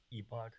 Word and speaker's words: epoch: poll from vitalik uh epoch is pronounced epic or epoch that's a that's a good one wait okay vitalik how do you pronounce it e-bug okay i pronounce it however vitalik pronounces it can anyone quickly see